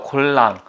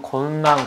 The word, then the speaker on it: 곤랑: 골랑. 곤랑이라고도 하고요. 발음이 한국식으로는 곤랑, 곤랑인데, 이게 무슨 의미냐면, 이게 흘릴 낭자, 아니 흘릴꾼, 이게 물결 낭자인데, 남자가 흘리고 다닌다, 여자가 흘리고 다닌다, 그런 얘기입니다.